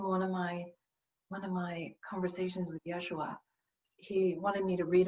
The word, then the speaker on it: Yeshua: I have an amazing connection with Yeshua, my spiritual guide. And that's Hebrew for Jesus. He liked the Hebrew pronunciation when I chatted with him.